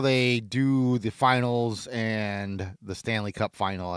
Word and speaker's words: final: And just FYI for everybody, it's final. Stanley Cup final. There's no S to it. I've heard it pronounced that way. And even I, as a non-hockey fan, know that that's incorrect.